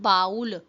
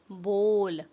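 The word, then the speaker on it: bowl: pronounce the word बोल इट्स नॉट बाउल इट्स बोल बोल हाउ डू यू प्रोनाउंस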